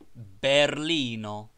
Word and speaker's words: Berlino: Every word is accented on the last syllable but one, as Berlino, Berlin, Berlino.